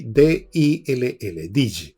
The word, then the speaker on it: Dill: conocido, pero que yo siempre he recomendado, Samuel Dill. Se escribe Samuel, como Samuel, y D-I-L-L, Dill, Samuel Dill, lo encuentran en Amazon, sobre